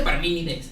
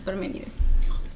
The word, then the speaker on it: Parménides: Aquí dice Parménides. Es Parménides. Es que así se pronuncia.